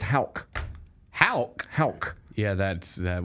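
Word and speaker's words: Haugh: Pronounce it. Huff. Okay. Hoff huff huff. That's where I would go too. Yeah. Except it's Hulk.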